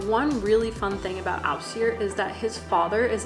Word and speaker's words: Ásgeir: I actually learned how to pronounce that at a car rental place in Iceland where the person giving me my car was named Ausir, and I asked, how do you pronounce your name? So props to that guy for being named Ausir and introducing me to the beautiful pronunciation of this musical artist, because I was calling him Askir.